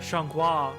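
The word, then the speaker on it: Xianghua: Like I use joie because Shanghua is from Soul Calibur. That's how you pronounce her name. And I'm pretty sure her name starts with an X.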